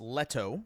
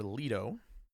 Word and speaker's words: Leto: The last wife before his current wife uh was Letto or Leo like like as in Jared Leto.